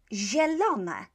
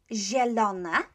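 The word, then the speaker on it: zielona: a few words here green and polish is jellona jellon jellona right so that i is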